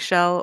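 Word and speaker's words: Ixchel: correct yeah or and so you pronounce it she'll or like her friends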